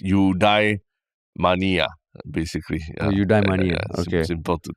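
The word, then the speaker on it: eudaimonia: fictional country where isopan I thought udonia is like where everybody wants to die no no no no it's not there I know it sounds like you the pronunciation I realized is udai Mania basically UD Mania simple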